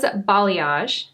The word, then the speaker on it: balayage: Does balayage, did I say it right?